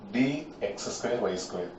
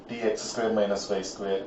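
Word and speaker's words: dx²−y²: y square pronunciation is d x square y square please don't pronounce it as d x square minus y square or dx square 2y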